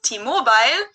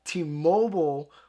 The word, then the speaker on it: T-Mobile: But even though it's English, it's pronounced differently in Germany and the US. T-Mobile versus T-Mobile. Why, I cannot tell you, but I do know that in the UK, people pretty much pronounce it like we do in Germany. They say T-Mobile.